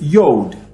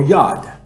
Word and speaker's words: Yod: the Hebrew alphabet is Yod or Yod. Some people pronounce it Yod or Yod, Y-O-D or Y-U-D.